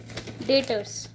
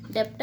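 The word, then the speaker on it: debtors: तो क्लियर हो गया नेक्स्ट टॉपिक है डेटर्स इसकी स्पेलिंग है डी ई बी टी ओ आर एस जिससे बच्चों को कभी-कभी इसको जैसे नए नए बच्चे 11थ क्लास में आते हैं उनको डेप्ट डेप्ट पढ़ते हैं लेकिन इसका जो प्रोनंसिएशन है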